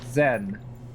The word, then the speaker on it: Xen: portal to a other world called Zen, spelled with an X, Xen.